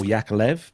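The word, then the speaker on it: Yakovlev: is to be rebranded Yakov or yakolev if you want to pronounce it right Russian made commercial aircraft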